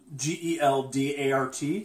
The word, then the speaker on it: Geldart: Carr again, and this time we are joined with another member of the Banana Bunch, Kyle Geldart. It's still spelled G-E-L-D-A-R-T. So Geldart? A hard G. Geldart.